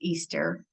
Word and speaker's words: Ishtar: the video down um Ishtar is the goddess of war fertility and sacred sex again Tantra we're not talking about prostitution the celebration of Ishtar which is pronounced Easter is about New Life